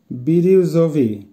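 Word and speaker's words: бирюзовый: বিরিউজভি, বিরিউজভির অর্থ হবে ফিরোজা কালার, উচ্চারণ হবে বিরিউজভি।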